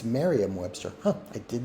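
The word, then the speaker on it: Merriam-Webster: was a mistype it's Mariam Webster okay well that that is an error on my part I thought it was Miriam Webster guess I've been saying it wrong all those years I knew it was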